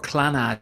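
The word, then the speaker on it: Clannad: And Enya's sister is Moya, and her siblings are in a group called Clonad, or Clanad, as it's sometimes pronounced.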